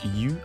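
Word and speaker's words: 鱼: Le poisson, qui se prononce yu en mandarin, est proche des caractères surplus et abondance.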